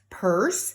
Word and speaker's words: purse: Purse, and don't forget the purse has the silent letter on the end that you don't hear, the silent E, as well as nurse.